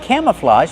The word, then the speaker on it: camouflage: Use the open A sound like ham and ma'am, cam, plus the short sound, camma, relaxed, camouflage. And the open ah like hot and stop.